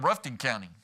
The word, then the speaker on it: Rutherford: And we used to live in Rutherford County. Okay. ratherton county. We add syllables to a short word, but we take out syllables on a on a long word. Uh, so we lived in Ruffton County.